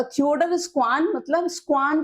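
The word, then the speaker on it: Schwann: तो थियोडल स्क्वान मतलब स्क्वान को आप स्ान जैसा प्रोनाउंस करो। स्ान एक एनिमल है।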